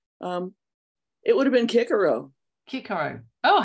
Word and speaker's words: Cicero: I know that Latin if you're speaking Latin C is pronounced k okay in America that's